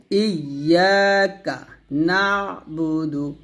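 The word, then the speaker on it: إياك نعبد: আমার সাথে পড়েন ইয়াকাবুদু আমরা এই আয়াতে বেশি ভুল করি দাল পেশ এখানে সে টান দেয় হরকতে টান দেয় টানটা দেওয়া যাবে না ইয়াকা নাবুদু ইয়াকা নাস্তাাইন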